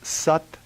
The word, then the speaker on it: Sat: In Kundalini Yoga, the main mind vibration or mantra is Sat Nam. S-A-T, pronounced a little bit like S-U-T, Nam, N-A-M, Sat Nam.